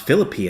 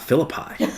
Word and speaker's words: Philippi: learn I said that it's pronounced Philippi and not Philippi you know which of course